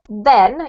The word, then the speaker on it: then: to show you um the difference between a d and a the is literally that your tongue has to stick out of your mouth a little bit when you say the